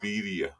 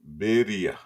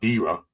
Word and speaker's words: birria: Birria. Birria. Tacos. Yeah, see, he even says you suck at pronouncing it. I'm not Spanish, but that's what they say to me. But it's not birra.